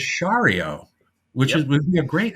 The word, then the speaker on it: Sciarrio: Here's how he spells it. Sciarrio. Now I said, right. Sciario, and he went, and told me it was Shario, which would be a